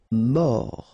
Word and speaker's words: mort: Mort, final T not pronounced, O-R, or, mort.